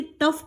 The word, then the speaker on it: tough: टफ की spelling होती TOUGH, इसे टफ पढ़ेंगे, TOUGH, टफ टाइम्स।